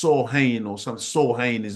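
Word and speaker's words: Samhain: the an ancient Pagan Celtic Festival known as Sam hay now I know that that's that's how it's spelled but it's not actually pronounced like that it's like s ha or something s ha is how they really say it but Sam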